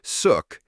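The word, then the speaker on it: Xuc: Born in the 1940s, the name Zuk, pronounced suk, comes from the quirky shook shook sound made by the clarinet in traditional folk music.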